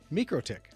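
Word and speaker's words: MikroTik: Microick, that's how you say it.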